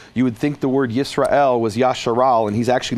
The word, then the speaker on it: Yisrael: So what he's done is he's stripped the Hebrew language of any historical pronunciation and now turned the word Yisrael into Yasharal.